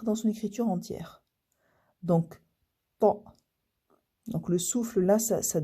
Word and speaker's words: ط: Parce que c'est pas un T ordinaire hein, qu'on a l'habitude, qu'on rencontre en français.